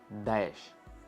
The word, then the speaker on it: Daesh: It sounds like this: Daesh. It should be pronounced disgustingly and demonstratively.